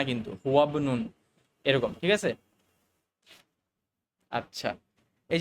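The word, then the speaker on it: هو ابن: তখন আমরা এভাবে বলি হুয়াবনুন অর্থাৎ আমরা এই হামজাটাকে স্কিপ করে গেলাম হুয়াবনুন নট হুয়া ইবনুন এটা না কিন্তু হুয়াবনুন এরকম ঠিক আছে আচ্ছা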